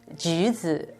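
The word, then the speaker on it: 橘子: A tangerine tree, it's a must in the house because tangerine in Chinese is ji, juzi. It's a very similar pronunciation with luck.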